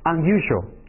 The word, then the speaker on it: unusual: 个单词是 un 前缀是 unusual，你看这个 un 发的是一个三角音啊。